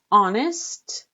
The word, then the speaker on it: honest: Honest, H is not pronounced.